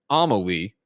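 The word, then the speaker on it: Amélie: says amelie is pronounced amalie emphasis on the first syllable is how she ah she a u capital a you i don't even know what ao malik amelie anomaly i'm going to say omelee that's what we're saying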